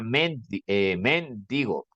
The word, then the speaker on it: mendigo: es cierto sino mendigo esta palabra no lleva tilde aquel es ahora mendigo ya la pronunciación va a cambiar no así Aquí está la tilde me indica que aquí va la mayor fuerza de voz esto sería men digo